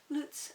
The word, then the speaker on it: Luts: different types of loots apparently that's how it's pronounced lutz um senor dolph bodies